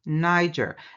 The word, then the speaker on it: Niger: sides of the river Niger. Now, some would pronounce it the same way the N word is pronounced with the hard G.